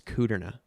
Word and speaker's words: Kudrna: uh and the last name is it's kuderna which is a weird one you better spell it